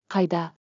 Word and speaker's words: Қайда: Mnemonic. K-I-DA, sounds like a kite showing the way. Қайда?